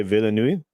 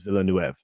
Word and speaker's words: Villeneuve: So because I used to say Villeneuve, and Andre said no, it's Villeneuve. Okay.